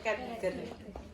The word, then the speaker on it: catgut: folderal folder benangang nah tulisannya kan catgut bacanya katg Ya oke eh needle